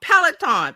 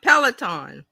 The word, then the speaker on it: Peloton: Oh yeah, it's Peloton. Peloton.